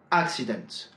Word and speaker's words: accident: « government », « accident », « accidental », « normal », « normally ». À chaque fois, l'accent est placé sur la première syllabe.